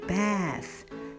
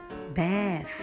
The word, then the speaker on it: bath: T and H give me sound th, th, th, th. شايفين مطلعين لسانهم ازاي؟ لازم وانا بنطقها لازم اخرج لساني برا. قول bath. Th, bath.